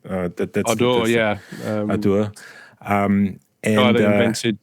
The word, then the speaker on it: Ardour: Did I pronounce it correctly? Yeah. Ardour, right? Ardour, yeah.